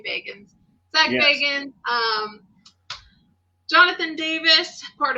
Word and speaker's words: Bagans: And it's everybody's favorite, Zach Bagans or Baggins, depending on how you love to say his name. I say Bagans.